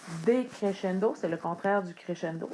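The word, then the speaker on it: decrescendo: du créchendo c'est le décréchendo attention encore une fois à l'orthographe aucun accent decéchendo donc le SC qui sonne comme ch en français decchendo c'est le contraire du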